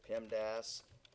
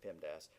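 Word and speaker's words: PEMDAS: and subtraction are done so you pronounce it Pim Das in some languages there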